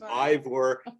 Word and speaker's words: Eivør: question because my name is Ivor I'm an engine driver yeah no one ever